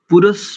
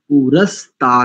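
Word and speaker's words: पुरस्तात्: दो स्थानों पर देखिए पुरष पुरुष नहीं है पुरुष तात नहीं पुस्ता पुस्ता ठीक है और शुक्रमेह ठीक है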